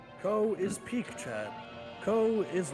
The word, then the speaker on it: Kou: found me and like commented on it, I pronounced co as cow the entire time.